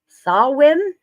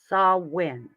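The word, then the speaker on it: Samhain: candle down okay the Celtic Festival of it's pronounced sawin is a Celtic tradition so Chris G you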